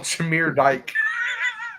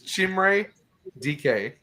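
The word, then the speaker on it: Chimere Dike: I always call him Shamir Dyke. It's It's Chimray DK is how you say his name.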